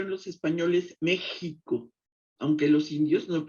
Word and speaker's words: México: nuestras mayores flores sin méxico con x suave como lo pronuncian los indios significa donde estado es